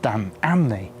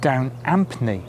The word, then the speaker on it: Down Ampney: sites you'll see that they emphasize that the village has a silent p in other words pronounced Dan amni now I'm from gloucestershire and lots of people know this Village in this part of the world of course and we've always pronounced it down Anthony with ap not a harsh P but it certainly clearly